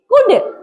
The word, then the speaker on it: could: वुड सी ओ यू एल डी कुल्ड नहीं कुड।